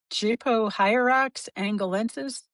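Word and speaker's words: Gypohierax angolensis: Gypohyrax angolensis?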